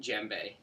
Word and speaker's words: djembe: here is called a gembe and it's spelled d-j-e-m-b-e the D is actually silent even though some people will pronounce it the gembe it's actually just pronounced jembe and this one's more